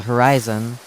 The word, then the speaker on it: Horyzon: very end of The Horizon footnote spelled h o r y z o n but pronounced the same as the word horizon h o r i